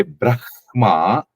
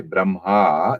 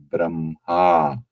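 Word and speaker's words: ब्रह्म: Brahma it's more gutal when you say Braha it's more chest so as for the sutras it has to come from the chest so how to pronounce that word it has to be Braha not okay uh hope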